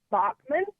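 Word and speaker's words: Baughman: based on my name my maiden name is pronounced Bachmann but it's spelled with a GH like Bachman-Turner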